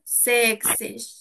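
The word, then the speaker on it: sechzig: না তাহলে কি থাকবে এক্সিস এক্সিস অনেকে কিন্তু জ এর মত করে উচ্চারণ করে কিন্তু এটা কিন্তু কিন্তু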